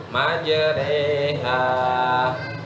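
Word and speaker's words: مجراها: Di dalam ayat Al-Quran salah satu yang harus dibaca miring ya ini, majreha. Tulisannya di situ majroha, tapi di huruf ro itu di tulisan bawahnya ada kalimat atau kata imalah.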